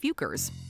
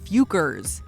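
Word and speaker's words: Fockers: but in their defense the questionable word is pronounced fukers there's not a ton of information available about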